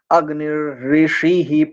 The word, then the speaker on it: अग्निर्ऋषिः: अग्निर, रेफ आधा बोलेंगे यहाँ पर, और री ये जो ऋषि वाला ये पूरा का पूरा ही है, तो दो, एक रेफ और एक रीकार, ये दोनों हैं यहाँ पर, इस बात का ध्यान रखेंगे।